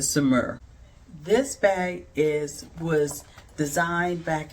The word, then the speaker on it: Saumur: I've heard 3 to 4 different pronunciations of this bag, and I think the one that is the right one is the Saumur.